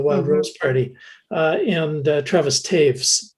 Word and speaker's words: Taves: Rose Party, and Travis Taves, whose name looks like toes, but it's one of those German names that's pronounced not quite the same as it appears.